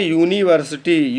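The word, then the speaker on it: university: इसको कहते हैं यूनिवर्सिटी, UNIVERSIT और वाई। अब यूनिवर्सिटी, फिर देखिए यू, लेकिन उच्चारण यू, या से यज्ञ, यानी कि फिर वॉवेल नहीं, फिर हो गया आपका कॉन्सोनेंट।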